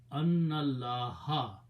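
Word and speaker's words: أَنَّ ٱللَّٰهَ: So you do not pronounce this alif, pronounce noon with the lam, so it will be annallaha.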